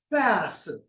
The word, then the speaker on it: aphaeresis: So aphaeresis means that it starts with a schwa sound, aphaeresis. Whereas if we pronounce it without the knowledge of understanding, we say aphaeresis, something like that, or aphaeresis. So it's aphaeresis.